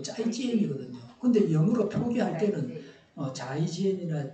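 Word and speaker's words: 再见: 그게 이걸 자이지엔이 아니고 짜이지엔이거든요.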